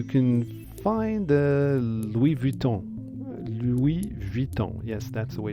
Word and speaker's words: Louis Vuitton: main Square you can find the Louis Vuitton Louis Vuitton yes that's the way it's pronounced an LV if you like and in